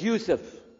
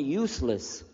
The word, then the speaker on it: Yousef: we'll work on itah my name is Yousef can you say Yousef you say Yousef you're very good I wish you teach my wife she keeps mispronouncing it she calls me useless alhamdulillah now how many